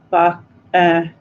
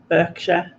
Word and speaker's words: Berkshire: Or if you say Reading, and I want to say Reading. Or if you say Berkshire, and I want to say Berkshire. Because there's like this overriding thing inside of us that wants to say it wrong.